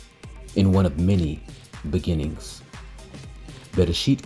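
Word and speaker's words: בראשית: Bereshit contains 3 syllables, Be, Resh, It.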